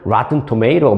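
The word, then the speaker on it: Rotten Tomatoes: 진짜 굴리려면 로튼 토메이토 이런 식으로 해야 되는데, 참 이게 한국 뉴스를 하다가 가끔 영어 나오면, 이걸 어떻게 발음을 해야 되지? 고민이 되는데요. 이 정도 고민을 제가 토로했으니까 이해해 주실 걸로 알고 그냥 한국식으로 발음을 하겠습니다.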